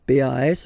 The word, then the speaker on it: pas: Okay, we write it PAS, okay, but as usual, final S is not pronounced, so it's pas.